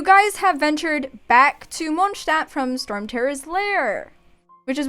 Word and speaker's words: Mondstadt: give it a recap yeah okay yeah it's pronounced monsta i mean ella can give like the best pronunciation because it's pronounced uh monsta since that's just the proper german way to